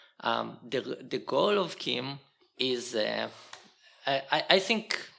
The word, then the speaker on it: CIEM: it they decided that you need to pronounce it like there is a k at the beginning so they actually wrote pronounced Kim um so I'll try to pronounce it Kim um and the way